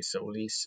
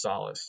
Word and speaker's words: Solace: the pronunciation here because I want to say Solis or soulless but it's solace and I'm not a